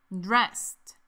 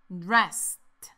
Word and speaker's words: dressed: Dressed. Practiquemos esta palabra un poco más. Escucha. Dressed. Dressed. Aquí también las letras ED se pronuncian como que si fueran una T.